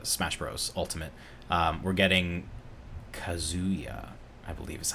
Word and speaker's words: Kazuya: We're getting Kazuya, I believe is how it's pronounced.